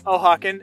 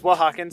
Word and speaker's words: Oaxacan: i realized i was mispronouncing it i was pronouncing it o'haken and apparently it's wahawkin so thank you for correcting me on correcting